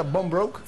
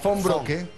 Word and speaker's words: Von Brocke: Evelyn, ¿cómo se pronuncia? ¿Bombroke? Fonbroke.